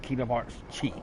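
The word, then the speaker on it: Kingdom Hearts χ: It's shown Kingdom Hearts X, but it's actually pronounced Kingdom Hearts Chi.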